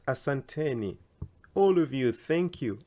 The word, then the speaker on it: asanteni: you to many people who say it as asantani again the E here I've put it here so that it becomes asanteni all of you thank